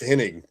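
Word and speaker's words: Hennig: It's henning to me. I don't care what they say in the South. It was pronounced h inning, right?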